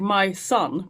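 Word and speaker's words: Majsan: correctly my son yeah it sounds like my son but it's m a j s a n my son yeah it's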